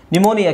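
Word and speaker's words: pneumonia: cupboard ಅಲ್ಲ ಕಬಡ್ ಹಾಗೆ ಇಲ್ಲಿ P silent ನ್ಯೂಮೋನಿಯಾ ನ್ಯೂಮೋನಿಯಾ ನ್ಯೂ ಮೋನಿಯಾ ನಿಮೋನಿಯಾ ಕೇಳಿದರೆ ಒಂದು ಕಾಯಿಲೆ ಜ್ವರ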